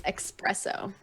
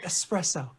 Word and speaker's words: espresso: it's the same question the thing I hear a lot is expresso oh yes oh the hipster in me is dying okay you're doing you're doing the UK thing you're adding a letter into a word that doesn't need to be there this is espresso okay let's get back